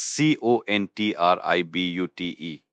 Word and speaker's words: contribute: That's c o n t r i b u t e. Contribute. Another one we've definitely heard. Pronunciation as contribute. The stress is on the second syllable.